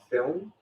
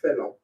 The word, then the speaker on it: film: So Americans would say a film, and in Ireland we say film. You just add a cheeky little silent U, film.